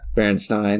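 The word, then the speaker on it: Berenstain: opposite of that yeah Baron Stein yeah I thought it was Baron Ste Bears my whole life but I think that that is really just a a pronunciation mistake I I I think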